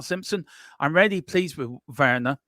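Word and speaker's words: Werner: I'm really pleased with verer is it Warner or ver V pronounced W as a v in German verer verer verer um I'm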